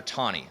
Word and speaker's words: Taney: was chief justice roger tawney it's pronounced tawny even though it's spelled taney he was the chief justice from 1836 chief justice john marshall's death until 1864.